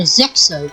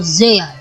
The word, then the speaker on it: Zexal: Zeal, or Zexal if you are a English dub watcher. But for me, I am referencing the Japanese name of this anime, and the way they pronounce it is Yu-Gi-Oh! Zeal.